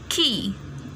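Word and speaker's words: quay: Next is key. ये आपने pronounce इसको कैसे करना है? Key, not Q, K, no. It's key.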